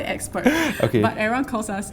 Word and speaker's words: AdXpert: Okay, so our agency is spelled as AdXpert. So it's like we call it expert.